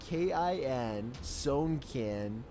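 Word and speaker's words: Sewnkin: First, their name is spelled out letter by letter, S-E-W-N-K-I-N, Sownkin.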